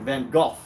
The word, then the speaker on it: Van Gogh: Like if you ever listen to litters of Vincent Van Hawk or Vincent Van Go as the British say it or Vincent Van Gogh as Americans say it or Vincent Van Go. I think I I feel like that might be the right way.